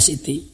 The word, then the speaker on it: Siti: Siti Zainab itu sama dengan kita, dan ada Siti Aisyah, Siti Fatimah, itu tulisannya sin sama ta, bacanya Siti, singkatan dari Sayyidati, wahai ya, wanita yang mulia.